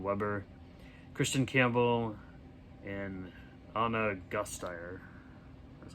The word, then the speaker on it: Gasteyer: Alan Cumming, Steven Weber, Kristen Campbell, and Anna Gasteyer.